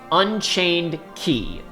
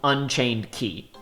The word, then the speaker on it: Unchained χ: Again, spelled with the Greek letter Chi, But in this particular instance, we do have explicit pronunciation instructions, and it is you are supposed to call it Key, Unchained Key.